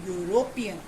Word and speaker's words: European: In the second example, the word European starting with E, but when we pronounce it, there is no sound of E. We are saying European, yo.